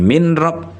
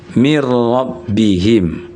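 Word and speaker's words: من ربهم: atau mirro ya mirro makanya mirrabihim tulisannya min rabbihim tapi dibaca bukan min rab tapi mirrabihim ada lagi dalam ayat setelah min it min inian Yang mudah min nunnya sukun.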